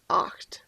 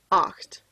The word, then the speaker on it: acht: right eight is pronounced oct oct you should kind of feel this one in your throat that's kind of hard